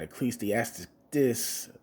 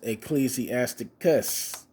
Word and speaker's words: Ecclesiasticus: So this Ecclesiasticus. There you go. I pronounced it right this time.